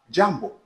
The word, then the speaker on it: jambo: Jambo. H et jamb c'est en soyé n'est-ce pas ? d'air que vous prononcez d'air mal la salation lui-même ce n'est pas jamb c'est jambo pour dire que problème